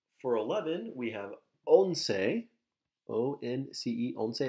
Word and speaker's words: once: So for 11, we have once, O-N-C-E, once. It looks like once in English, but it's pronounced once.